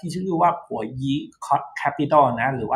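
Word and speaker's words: Boyu: บริษัท ที่ ชื่อ ว่า ผัว ยิ Capital นะ หรือ ว่า ถ้า อ่าน แบบ ภาษา อังกฤษ ก็ อ่าน ว่า by you นะ boy you นะ แต่ ว่า ถ้า ออก แบบ จริง ก็ ผัว ยี นะ ก็ เป็น บริษัท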